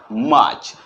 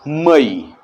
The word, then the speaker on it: May: और MAY, मई, MAY, मई, लेकिन हमें बोलना है मे, MAY, मे।